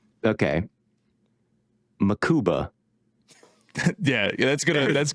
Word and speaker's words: Mukuba: Corner route but just the speed at which makuba broke on it I hope I'm getting that name right but I think it's makuba right it's makuba I'm thinking of the maou tackle yeah holy